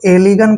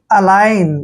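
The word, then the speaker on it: align: एल आई जी एन आप इसको एलिगन पढ़ेंगे जो कि गलत है देखिए यहां पर ए का उच्चारण हम क्या करेंगे अ ठीक है और एल आई का उच्चारण हम लाई करेंगे दोस्तों लाई ठीक है और जी का उच्चारण हमने य नहीं करना है क्योंकि एन से पहले जब भी जी आता है तो जी का उच्चारण हमने नहीं करना है और एन को पढ़ेंगे हम यहां पर न यानी कि अलाइन देखिए अलाइन अलाइन का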